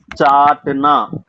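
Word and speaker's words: चाटना: நக்குவது, டு லிக், சாட்னா. சாட்னா இந்த chat மசாலாக்கு வர்ற முதல் 2 எழுத்து உச்சரிப்பு மட்டும் எடுத்துக்கணும். கடைசிக்குல நான் சேர்த்துக்கணுங்க.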